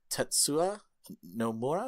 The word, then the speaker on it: Tetsuya Nomura: In a statement to counter some of the leaked game footage, director Tetsuya Nomura, is how you pronounce his name, wrote, "The game's planned epilogue